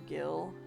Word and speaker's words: Gil: And we've got a little over 2,300 Jill left. Or Gil, depending on how you like to pronounce it.